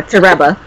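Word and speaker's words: Toreba: I didn't know that's how you pronounce it, but yeah, Tereba.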